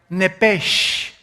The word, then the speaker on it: nepesh: Esa palabra alma es la palabra hebrea nepesh, así como suena N-E-P-E-S-H, nepesh. La palabra, la letra o las letras S-H en el hebreo se pronuncian en hebreo como J.